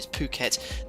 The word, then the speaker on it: Phuket: Yeah, I thought it was pronounced Phuket but someone told me Phuket.